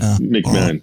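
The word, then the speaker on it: McMahan: McMahon.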